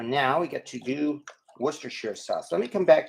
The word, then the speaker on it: Worcestershire: know it's funny but I prefer to actually pronounce it the proper way Worcestershire sauce rather than everybody else making jokes and saying Worcestershire sauce which yes it is funny but um